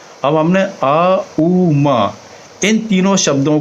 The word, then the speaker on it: ओम: अब हमने आ उ मा इन तीनों शब्दों को संधि करके हमने ओम बना दिया है। वैसे ये बेसिकली इसका उच्चारण जो है ओम ना करके इसका सही उच्चारण है आउम।